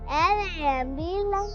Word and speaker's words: lamb: We'll present a role play on how to learn spellings with vowel sound and with silent letters. L-A-M-B, lamb.